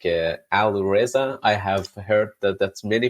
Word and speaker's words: Alireza: And my name is Alireza. Alireza. Put the emphasis on the wrong part.